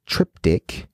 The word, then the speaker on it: triptych: Wiki Cipher part 2 trip Tike or triptych which we've heard some people pronounce it as which sounds similar to cryptic hmm Cipher part 2